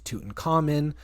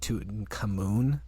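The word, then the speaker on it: Tutankhamun: Toutin Cotton changes his names to Tutin Common. Um, which I also was listening to a podcast where they pronounced it Toutin Camoon and I didn't like that.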